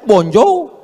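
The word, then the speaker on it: bonjour: Tulisannya bon jowur. Bacanya bonjou.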